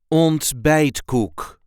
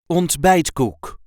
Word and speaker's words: ontbijtkoek: we say bite cook on B cook there is a light emphasis on the second syllable on B cook bite cook on bite cook on bite cook is